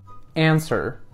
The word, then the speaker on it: answer: the feedback oh okay turns out the W is silent that's good to know answer now that was better okay now we have